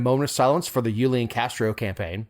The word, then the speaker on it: Julian Castro: of silence for the yulian Castro campaign that's not how you say it Julian you say it different Julian Castro thank you first